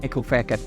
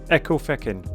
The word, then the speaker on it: Ecclefechan: Ecclefechan. Ecclefechan. Ecclefechan, yeah. Ecclefechan. It sounds like a swear word.